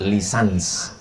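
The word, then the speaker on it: licence: Tulisannya licen C. Cara membacanya lisans. Kalau di Malaysia lesen.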